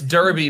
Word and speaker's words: derby: Wait, saying Derby, or I thought the word was Derby. It's Derby, but because it's a dumb British term, it's for some reason pronounced Derby because apparently the British don't understand the difference between an E and an A.